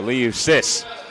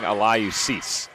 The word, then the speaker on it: Alayu Sis: Sorry to cut you off, Nick, but he's saying Alayu Sis. So. I think that's how it is pronounced.